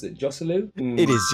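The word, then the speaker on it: Joselu: I can't pronounce it. Josulu? It is Josulu.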